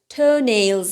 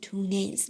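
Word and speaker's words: toes: یک فاصله بذاریم و دقت کنید که تلفظش تز هستش تز تز تز نیستش او نیستش نمیگیم تونز میگیم میگیم میگیم تز تز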